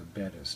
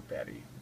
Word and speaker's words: Badis: can be described as a betis tank or batty depending on how you like to pronounce it it's a 10 gallon